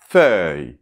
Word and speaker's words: feuille: Donc après en fait, on a [œ] bien ouvert : [œ], [œ]. Et on termine par [j]. [j]. Donc FEUILLE .